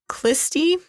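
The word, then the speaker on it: Khlysty: deviant sect they were called the kisty I think is how you say that it's KH h l y s t y uh they had a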